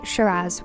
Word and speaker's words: Shiraz: Shiraz is the Australian name and can be pronounced in a few different ways, though generally Shiraz won't put you wrong.